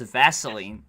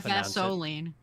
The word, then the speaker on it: Vaseline: the name is that it's spelled it's spelled Vaseline but it's Vaseline like well Billy Vaseline Billy seems to have some conje uh Baseline Vaseline not vasoline if you if you pronounce it like gasoline Vaseline it's always with an E what are you what